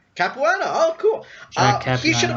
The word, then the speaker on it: Capuano: Like Capuano? I can't pronounce his goddamn name. The guy in You got it right. Capuano?